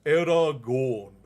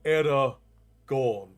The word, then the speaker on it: Eragon: So in growing up I've always pronounced Aragon different from you do. You pronounce Aragon like Aragon. So am I the way? So no I say Aragon but because of the way that I pronounce my O's it sounds similar but I over pronounce. So it's error gone and then era gone. So era gone. Error gone. Slightly slightly different.